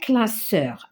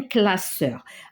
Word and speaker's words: classeur: Alors là, si je mets un seul S, ça va se prononcer un classeur parce qu'il y a deux voyelles. Mais non, c'est un classeur, on va mettre double S.